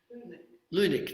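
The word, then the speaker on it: Leunig: There's a cartoon, Leung, is that how you pronounce him in The Age? Lunik, that's it.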